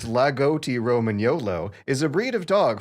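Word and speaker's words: Lagotto Romagnolo: logoto roman the roman yolo lugoto roman gnolo pronounced lagoti roman yolo is a breed of dog from northern italy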